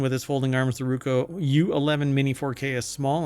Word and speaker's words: Ruko: Skip flight school and start capturing epic moments with the Roku. Really? Uh, sorry, I pronounced that wrong. It's the Ruko.